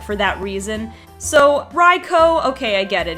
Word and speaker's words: Raikou: saw raikos name I tended to say raikou like haiku well I guess that's